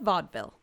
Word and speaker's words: vaudeville: american so of course we stole the term from the french and pronounced it entirely wrong uh historians think that the term came from a bastardization of vo de ville which means voice of the city or vaudevir which is